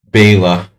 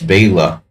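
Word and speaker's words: Béla: Bela. My parents used to say Bella. Everyone would say, you know, like Bauhaus, Nedog, Bella Lugosi. But it's not Bella Lugosi, it's Bela.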